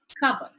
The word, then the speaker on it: cupboard: If you notice in the transcription, the p sound is missing. This is something that you need to make note of when the sound is deleted off the word. So, P is silent, cupboard.